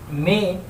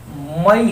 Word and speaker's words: May: मई कह सकते हैं, और जब उच्चारण करेंगे तो मे कहेंगे। हमारे यहाँ ज़्यादातर लोग इसको मे को मई ही कहते हैं, मई ही उच्चारण करते हैं।